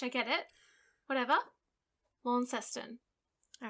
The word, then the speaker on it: Launceston: there recently okay also that's that word is spelt so stupidly because it's felt like it should be lawn chester but it's just not isn't that no by